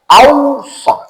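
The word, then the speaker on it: أوصى: Yang ini tambah alif di awal, ausa. Bedanya apa? Wassa itu menunjukkan makna serius, makanya bacanya tasdid. Karena tasdid itu artinya serius. Makanya bacanya beda tuh. Was, ada tekanan tuh. Kalau ausa enggak ada tekanan.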